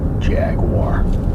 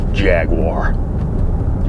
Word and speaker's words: Jaguar: A500 jag jag Jag you've got to really loosen your bottom jaw and then you can say it like an American Jaguar Jaguar apart from the price